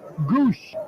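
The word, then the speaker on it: Gwosdz: them some character though gwos DZ is the spelling for the pronounced Goose oh his nickname is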